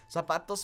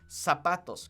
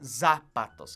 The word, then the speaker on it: zapatos: Zapatos meaning shoes. Remember that in Spanish, we don't pronounce our Z's like Z's, okay? They're pronounced like S's, okay? So it's zapatos, okay? It's not zapatos, okay?